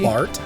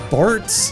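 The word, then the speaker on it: Bartz: Bart. His name is Bart. With a Z, right? Or is it? Yes, it's with a Z. Rhymes with farts.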